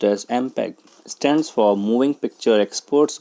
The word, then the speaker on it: MPEG: MPEG, pronounced as MPEG, stands for Moving Picture Experts Group.